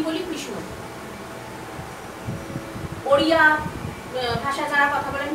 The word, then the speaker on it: কৃষ্ণ: কথার কথা ধরে নিচ্ছি কৃষ্ণ আমরা কি বলি কৃষ্ণ ওড়িয়া ভাষায় যারা কথা বলেন কৃষ্ণ আবার যদি গুজরাটে যাওয়া হয় কৃষ্ণা ঠিকঠাক কৃষ্ণ কিন্তু উচ্চারণ হচ্ছে না আর বাঙালিরা তো আরো